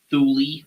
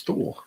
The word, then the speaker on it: Thule: Also, thank you for actually pronouncing it correctly, Thule, and not Thule. Yeah, it's Thule.